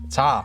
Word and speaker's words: 字: we're going to be learning about today is ta we just learned about taw in the last